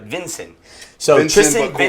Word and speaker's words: Vinson: Vinson. Vincent, just like Vincent, but Vinson.